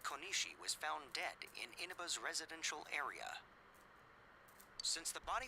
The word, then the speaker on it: Inaba: It's like halfway between the soft I and the E.